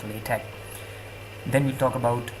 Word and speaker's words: LaTeX: The word is pronounced LaTeX. It's the sound of high in Latin or he in Arabic. If you don't know how to pronounce that, you can call it LaTeX. Some people call it LaTeX, but that would be really wrong because it's not latex, the rubber. It's at best LaTeX.